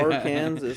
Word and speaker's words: Arkansas: Arkansas. Yeah, that's a weird thing, hey? How Kansas is pronounced Kansas and Arkansas is pronounced Arkansas.